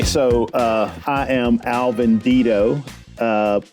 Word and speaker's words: Dedeaux: So, uh I am Alvin Dido. Uh correct pronunciation is probably Duddo, but um that's how we say it in Texas and you know a lot of other locally regionally mispronounced names and words.